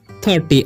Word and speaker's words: thirty: ठीक है, क्या पढ़ेंगे 30। आई का उच्चारण जो है यहाँ पर अ हो रहा है, इसे थीटी नहीं पढ़ना है, ठीक है।